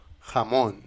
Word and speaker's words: jamón: Continuons avec la lettre J. J. Et c'est la même situation qu'avec la lettre G. On prononce tout le temps J. J. Par exemple, dans le mot jamón.